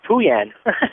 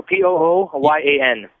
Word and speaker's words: Pooyan: The name was Pooyan. Tuyen, hi. Yeah, hi. Can you spell that for us? It's like Winnie the Pooh, so Pooyan.